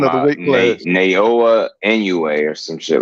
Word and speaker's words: Inoue: Naoa Inoue or some shit like that.